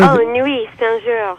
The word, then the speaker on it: Nuits-Saint-Georges: Pronounce that for me in French. ITS. That's where. Nuit Saint-Georges.